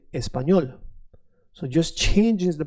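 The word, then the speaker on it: español: tongue when you say the letter L is not a thick L. It's a is a soft L. So it becomes L. Not L but L. Espanol.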